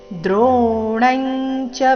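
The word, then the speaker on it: ದ್ರೋಣಂ ಚ: ದ್ರೋಣಂಚ ಭೀಷ್ಮಂಚ ಜಯದ್ರಥಂಚ ಕರ್ಣಂತಾನ್ಯಾನಪಿಯೋಧವೀರಾ ಮಯಾಹತಾಸ್ತ್ವಂಜಹಿಮಾವ್ಯತೆಷ್ಠ ಯುದ್ಯಸ್ವಜೇತಾಸಿರಣೇಸಪತ್ ದ್ರೋಣಂಚ ಭೀಷ್ಮಂಚ ಜಯದ್ರಥಂಚ ಚರಣದಲ್ಲಿ ಬಂದಿರು ಎಲ್ಲ ಅನುಸ್ವರಗಳ ಉಚ್ಚಾರಣೆ ಚ ವರ್ಗದ ಅನುನಾಸಿಕದ ರೀತಿ ಬರಬೇಕು ಯಾಕಂದ್ರೆ ಮುಂದೆ ಚನ ಬಂದಿದೆ ದ್ರೋಣಂಚ ಭೀಷ್ಮಂಚ ಜಯದ್ರಥಂಚ ಕರ್ಣಂತಾನ್ಯಾನಪಿ ಕರ್ಣಂತಾನ್ಯ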